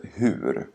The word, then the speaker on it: hur: Lägg märke till att frågeordet hur i båda exemplen uttalas som hu, utan r i slutet.